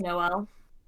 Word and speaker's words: JKMN: up more than once the name is spelled jkmn and it's pronounced Noel laughs okay like that